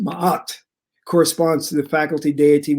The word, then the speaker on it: Ma'at: Ma'at, pronounced Ma'at, corresponds to the faculty deity within man, wherein is intuited and experienced the urge to live truth.